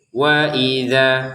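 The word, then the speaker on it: وَإِذَا: Ini wa satu harakat, I satu harakat, dza satu harakat tapi bertemu alif menjadi dua harakat. Sehingga cara bacanya waidza seperti itu.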